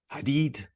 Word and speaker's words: Hadeed: Today my guest, author, speaker, serial entrepreneur, and yoga teacher, please welcome Hadig. Did I pronounce it properly?